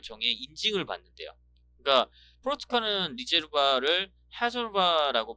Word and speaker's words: Reserva: 그러니까 포르투갈은 리제르바를 하솔바라고 발음을 한다는데, 와인 분석과 블라인드 심을 통과한 우수 품질의 와인에 헤제르바라는 표기를 두고 있다고 합니다.